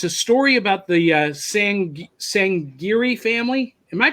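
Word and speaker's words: Sangerye: Bitterroot and it's a story about the Hsiang Hsiang Geary family am i pronouncing that right so they said that's close they saying Geary family yeah and they are a family of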